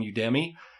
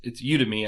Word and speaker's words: Udemy: We can actually get you promo codes for Skillshare, or it's Udemy, I think is how it's pronounced, but I call it Udemy.